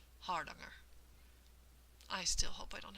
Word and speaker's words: Hardanger: But they say that the A vowels are the ah sound, like in bother or caught, or for many of us Americans, father. And the accent is here on the first syllable, so they say it's supposed to be something like hardanger.